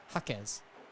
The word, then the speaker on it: Jaquez: He corrected me and let me know how to pronounce his name, as many people get it wrong. But Coach Tyler Jaquez.